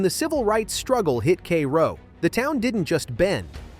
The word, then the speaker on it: Cairo: Cairo pronounced Kro sits right where the Mississippi and Ohio rivers meet.